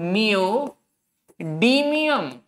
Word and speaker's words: neodymium: ND stands for नियोडीमियम। डीमियम, प्रीमियम वाला डीमियम, नियम नहीं है।